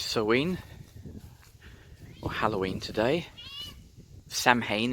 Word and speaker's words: Samhain: It's Samhain, or Halloween today. Samhain if you happen to read it literally, but it's not pronounced anything like that.